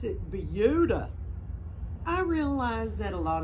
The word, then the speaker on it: Buda: be no exception it's spelled buddha b-u-d-a we pronounce it buddha i realize that a lot of the words